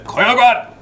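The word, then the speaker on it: Koiogran: Then my guy is going to Koyogwan! Which apparently is the proper way to say it. Accent and all.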